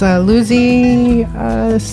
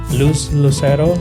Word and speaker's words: Lucero: And her most recent book, I believe, was Lucy Niña Astronauta? Yes. Did I get the name right? Lucero Niña Astronauta.